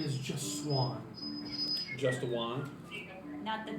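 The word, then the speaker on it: Knot: he's the doc Master his last name is not two it's spelled k n o t just one okay U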